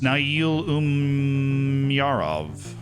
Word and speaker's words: Nail Umyarov: In the others, Nail Umyarov. It's actually how you pronounce it with the big pause in there.